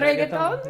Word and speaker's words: reggaeton: Is it reggaeton? Yeah, reggaeton.